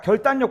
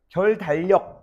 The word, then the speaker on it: 결단력: 그래서 원래는 어떻게 발음해야 돼? 결단력 이렇게 발음해야 되지. 근데 오히려 오히려 비 유음이 비음에 영향을 받아 가지고 비음화가 일어나. 어떻게 바음되냐면 결 단력 이렇게 발음 돼. 결단력. 결단 이런 식으로.